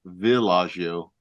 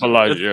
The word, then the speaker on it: Bellagio: this list says Bellagio, but I always thought it was Villaggio. I was wondering why you pronounced it that Yeah, way.